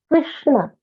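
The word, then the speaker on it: कृष्ण: The third pronunciation is what is there in Krishna. Sure. So that is Krishna. Krishna. Krishna. Krishna. Krishna. Krishna. Yes, that is, yes. Krishna. That is like shoe.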